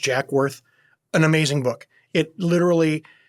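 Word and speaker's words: Jacques Werth: It's spelled Jacques, but it's pronounced Jack Worth.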